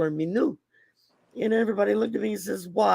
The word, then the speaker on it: minou: me new okay now m-i-n-o-u but it's pronounced like m-e-n-e-w is what it would look like phonetically like me new but it's spelled m-i-n-o-u